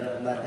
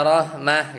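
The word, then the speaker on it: رحمة: menjadi ta kan harusnya kalau misal berhenti inna rahmah gitu kan. Iya inna rahmah. Kalau ini dia bacanya gimana? inna rahmat. Rahmat. Oh, pakai ta itu ya. Iya. Inna rahmat. Misalnya inna syajarat gitu ya. Kirah apa itu ya baca gitu ya. Inna rahma. Inna rahmat gitu ya.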